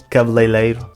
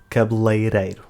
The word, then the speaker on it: cabeleireiro: other, which is why many people say “cabeleileiro” instead of cabeleireiro.